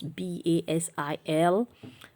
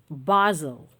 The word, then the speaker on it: basil: learning how to pronounce b-a-s-i-l the british way and the american way all right british english say basel basel american english say basil basil basil british english basel basil american english basil basil nuts basil never basil